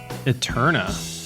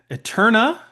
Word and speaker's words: Æterna: You're listening to the Current Plays podcast, season 3, episode 4, Eterna. And now, please welcome your hosts, Jordan and Thomas. And welcome back, magnificent listeners. This week we're talking Eterna.